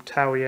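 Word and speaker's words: Toei: this as opposed to somebody from TOWIE animation that's how you're supposed to pronounce well I'm not going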